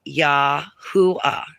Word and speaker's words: Yahweh: But to sound it out, we could spell it out and it would be Yahweh. Yahweh.